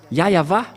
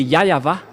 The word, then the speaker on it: Yahweh: Ici, chez les orientaux, ils prononcent vraiment le W par un V ou par un B. C'est ici qu'on voit clairement que le W est bien un V, mais ce sont les occidentaux qui l'ont changé en OU. Mais pour les orientaux, ils prononcent bien le W en tant que V. Mais c'est le V qui est vraiment la bonne prononciation.